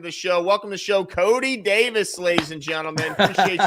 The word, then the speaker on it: Coty: sounds good let's do it all right Cody Cody that's how you pronounce it correct okay all right cool Cody